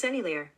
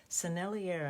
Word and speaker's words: Sennelier: Sennelier, I think is how you say it. Sennelier. It's French or Italian.